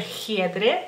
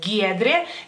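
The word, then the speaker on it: Giedrė: un nombre de mujer gedre se escribe con la g ustedes dirían giedre giedre no en lituano es gedre gedre y este por ejemplo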